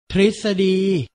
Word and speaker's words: ทฤษฎี: ป ปลา ต เต่า มัก จะ อ่าน ออก เสียง ริ เช่น อังกฤษ ทฤษฎี หรือ ประสม กับ พอ